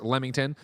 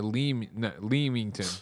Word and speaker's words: Leamington: Katie G says Greg was right it is pronounced lemington uh not uh uh Leamington yeah okay great spots and so this is